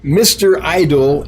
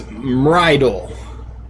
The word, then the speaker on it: Mrydle: Mr. Idol is Mrydle. Okay. Mrydle. Say it fast, then you pronounce it properly.